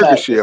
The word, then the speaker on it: Ergashev: So What is Ergashev or something? That's how you pronounce it? Ergashev. Ergashev? Yeah, That's Ergashev.